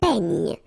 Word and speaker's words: peigne: Then un peigne. Final E, you don't insist on it. It's ny, the last sound.